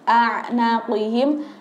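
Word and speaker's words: أعناقهم: Nah, tadi ada yang bacanya a, jadi a dulu baru ain, a naqihim, ada yang a, jadi dari awal udah a kayak gitu. Nah, salah ya ibu-ibu. Kalau bacanya kita a, berarti kan ain yang ketemu dengan alif atau ketemu dengan hamzah. Nah, ini alif dulu baru ain. Jadi a naqihim.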